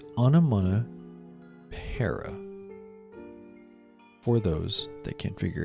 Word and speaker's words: Onomatopoeia: Salamangreat Raging Phoenix, Onomatopoeia, and I don't think you understand how many times I've heard this card be mispronounced. It's Onomatopoeia, for those that can't figure it out yet.